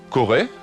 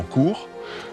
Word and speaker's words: Kore: Et pareillement, Corée, prononcé probablement court, c'est le roi, c'est la reine, c'est en fait le souverain.